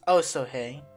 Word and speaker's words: Osohe: Maps just said an Oso hey sketch by the way I really I finally realized that it's pronounced oh so hey not whatever I was calling it why is this thing